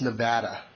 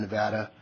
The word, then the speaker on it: Nevada: This is Scott Gers with the Nevada Trail Stewards. A couple of points of order before we start is, number one, something that seems to be brought up quite often. It's pronounced Nevada, not Nevada, and I'm sure that all of